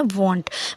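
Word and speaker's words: won't: हो जाता है वॉन्ट, इसका प्रोनाउंसिएशन होता है वॉन्ट।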